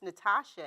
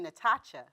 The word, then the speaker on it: Natacha: But to me, it does matter because my name is Natasha, and it's spelled with a C-H-A, and Right. everybody calls me Natacha. Oh, and it's okay. not Natacha. Right. It's like chandelier. Right. So it's Natasha.